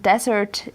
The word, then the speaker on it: desert: Actually, I just pronounced it wrong because dessert is something you eat and desert is where a lot of sand is.